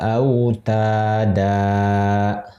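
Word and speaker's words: أوتادا: Contoh lain di ayat setelahnya yang dilingkari, wal jibala autada. Aslinya autadan, gitu.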